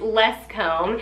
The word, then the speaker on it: Lescombes: and then I realized oh my gosh I pronounced it right because it looks a little interesting but it's it is less comb and I looked it up online and it